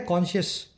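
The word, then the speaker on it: conscious: दोनों का प्रोनाउंसिएशन भी सेम है ऑलमोस्ट। ये है कॉन्शियस, एक एडजेक्टिव है। ये है कॉन्शियंस, ये एक नाउन है। कॉन्शियस, कॉन्शियंस, ठीक है।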